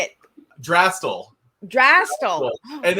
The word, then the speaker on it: Drastal: you know yeah uh you did say our name wrong but it's totally fine we have okay so how do I say it drastel drastic and it's totally fine mentioned the letters